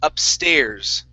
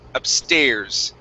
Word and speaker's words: upstairs: Next up we have the word upstairs. Okay, this is a long A sound. Upstairs. Upstairs. Okay, stress on the end of the word.